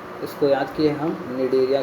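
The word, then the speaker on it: Cnidaria: निडरिया ठीक है इसको याद किए हम निडरिया के नाम से निडरिया ठीक है आपको भी ज्यादा आराम से हो जाएगा बस इसको याद रखिएगा ध्यान से सी साइलेंट होता है निडरिया ठीक है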